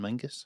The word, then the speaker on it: Menzies: So actually, John Menzies is John Mingus. Yeah. I didn't realise that until I was in my mid-20s.